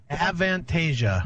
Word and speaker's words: Avantasia: how do you say that Chris an vantasia avantasia there you go and uh that features the